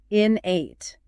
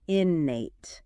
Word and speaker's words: innate: The stress is on that first syllable. Innate, not innate.